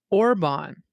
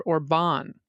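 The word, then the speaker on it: Orbán: And I know this is very small, but Hungarian, the first syllable of each word is emphasized. So when we talk about our authoritarian prime minister, we say Viktor Orban instead of Viktor Orban, which is how I heard you say it.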